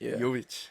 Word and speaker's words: Jovic: here we have sisha how's it pronounced yic yic yic sisha yic happy to happy to